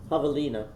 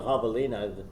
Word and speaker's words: javelina: know you know english english often carries over the pronunciation if it can and javelina and all we have to do and we can easily carry over the j because it's an h in english right someone just reading